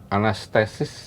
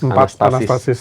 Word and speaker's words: Anastasis: Kembali ke album baru itu judulnya ee anastesis. Anastasis. Anastasis.